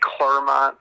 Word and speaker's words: Clermont: Did you say Clermont? Isn't that what it's called? I don't even know, dude. It's like Claremont, but it's, yeah. But it's spelled C-L-E-R. Yeah, It's C-L-E-R. Yeah, Clermont.